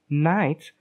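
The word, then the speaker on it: knight: Night, with its silent K and silent GH, is related to German and Dutch words Knecht, which is pronounced so fully that it almost sounds like connect.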